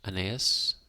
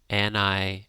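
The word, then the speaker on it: Anaïs: It's got a umlaut on the I. Aeneas? Aeneaslin? No, Anais. I think, looking at the pronunciation.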